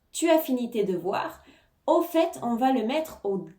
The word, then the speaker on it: au fait: au fait au fait ici on prononce bien le T au fait on peut traduire par